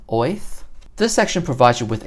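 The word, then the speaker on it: Oerth: Apparently that is how it's pronounced, Oath.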